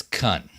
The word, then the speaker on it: Cun: Ghost of, I think it's Kun. No T, just C-U-N. Ghost of Kun here.